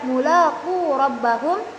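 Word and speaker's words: ملاقو ربهم: Misalnya penulisan kata mulaqu rabbahum, dalam rasm ditambahkan alif setelah waw menjadi tetap dibaca mulaqu rabbahum, hanya bedanya setelah waw-nya itu ditambahkan alif.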